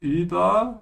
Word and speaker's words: über: Yeah, be careful with über. Stretch your tongue forward.